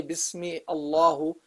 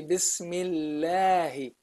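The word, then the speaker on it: بسم الله: You don't say Bismi Allahu, or you don't say Bismillahu, no, or Bismillahi. You say Bismillahi.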